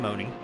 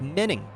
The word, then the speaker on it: Menning: Sean Piner, Mike Moning. And let me double check that real quick. I want to make sure that I'm saying his name correctly. It is pronounced Menning.